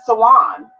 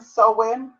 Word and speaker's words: Samhain: What's pronounced many different ways. There's 3 different types of way. Esposel, Espival. You can even say Sawan. You can say Sawan too. Samhain, Sawan, SOW IN, Sahan.